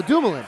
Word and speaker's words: Dumoulin: How do you pronounce his name? For what? The guy the Devils got. Oh, Dumoulin. Dumoulin, yeah, Dumoulin.